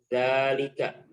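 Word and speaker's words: ذلك: Kata tunjuk jauh itu dalam bahasa Arab adalah dzalika. Apa? Dzalika. Oke. Dilihat di layar, dzalika. Cara bacanya panjang dzanya ya. Dzalika.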